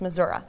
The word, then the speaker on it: Missouri: you are from Buffalo Missouri mm-hmm this is how you say it it's Missouri yeah at some point what